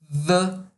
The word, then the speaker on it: the: É como se produzíssemos um Z aqui. Põe a mão na garganta e produza. Pois bem, é a palavra the, por exemplo, que é pronunciada desse jeito.